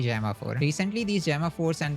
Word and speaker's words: Gemma: In my previous videos I used to pronounce it Gamma 4, but I realized it is actually Gemma 4.